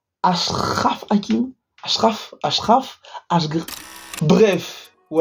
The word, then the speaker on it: Achraf: Hakimi wesh les garshraf ça se prononce comment les gars Ashraf Ashraf Hakim Achraf Ashraf HD